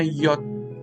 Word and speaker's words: Yod: Tapi itu bacanya Yod.